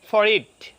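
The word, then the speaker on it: forehead: আচ্ছা, এরপর ধরেন ফরহেড, আমরা বলি ফরহেড, আপনার মূলত উচ্চারণ হবে ফরইড, ফরইড।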